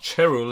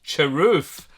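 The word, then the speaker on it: Cherufe: Oh, that's not Cherul, it's Cheroof. I've been saying it wrong all these times.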